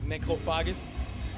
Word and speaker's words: Necrophagist: So if you want to pronounce it correct, it's like Necrophages.